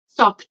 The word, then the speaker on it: stopped: it it's so stop mhm again okay stop stopped stop it stop stop it no I hear